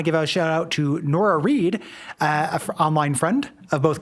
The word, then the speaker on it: Nora Reed: This episode, I want to give a shout out to Nora Reed, an online friend of both Kay and I's, who makes jewelry. So rhymes with florist, and Nora Reed uses they, them pronouns.